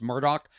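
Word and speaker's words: Murdaugh: Yorker about Alex Murdoch it's spelled uh m-u-r-d-o-u-g-h I think but it's pronounced Murdoch this guy in South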